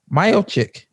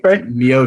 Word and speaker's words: Miocic: And you mispronounced his last name. Miocic. Oh, No. Stipe? Miocic.